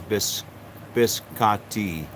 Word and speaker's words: biscotti: The correct pronunciation is biscotti.